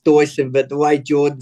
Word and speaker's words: Deussen: family that's why we're we're half German that's that's the reason why it's actually pronounced Dyson but the way Jordan